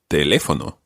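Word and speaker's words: teléfono: or telephone itself El telefono okay what can you tell me about that word based on the pronunciation or stress of that word there's an accent on the second e exactly because what can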